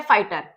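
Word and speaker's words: fighter: Sound आ रही है, word है फाइटर, टर की साउंड है, उससे पहले कौन सा स्ट्रोक है? जीएच तो हमारा साइलेंट है तो इसे हम अवॉइड करेंगे।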